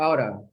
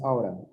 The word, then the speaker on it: ought to: This could be ought to or oughta, depending. In informal conversation, it's pronounced oughta.